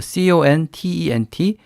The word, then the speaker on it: content: 단어를 쓸 수가 있죠 content 우리가 콘텐츠 그렇게 말할 때 쓰는 그 단어 하고 스펠링이 같지만 강세가 뒤쪽에 컨텐츠라고 뒤쪽에 오고 그 다음에 형용사로 쓰여서